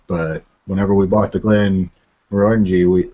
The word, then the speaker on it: Glenmorangie: And today we're doing a double tasting of Glenmorangie. Or I've heard it pronounced Glenmorangie, actually, by some Scotsmen. So, I've also heard Glenmorangie.